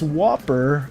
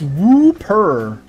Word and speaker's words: Whooper: I'm saying like it's Whopper. It's Whooper.